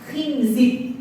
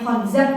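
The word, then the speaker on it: خنزب: Jadi setan yang kemudian menggoda manusia pada saat salat, wudu itu namanya khinzib gitu ya. Namanya jinnya khinzib. Nah, memang tulisannya cuma K Nun, Zain, ba. Ada yang membacanya Khinzib, ada yang bacanya khanzab.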